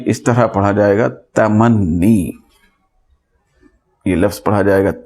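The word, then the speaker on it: تمنّی: پڑھا جائے گا تمنی، ہم اس کو اردو میں تمنا کہتے ہیں، تو اردو میں بولا جاتا ہے ایسا تمنا، تو اس طرح یہاں پہ تو اس کو تمنی کہا جائے گا۔ یہ اصل تلفظ ہے جملے انشائیہ کی قسموں میں جس کی گفتگو ہو رہی ہے وہ یہ تمنی ہے اصل میں، تمنی.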